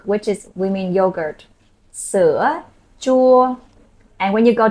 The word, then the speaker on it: sữa: This one, with the hook, you make a smile, you go sữa.